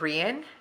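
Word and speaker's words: Rían: the Irish language you in the Celtic language you actually pronounce it ran and it means king and we actually named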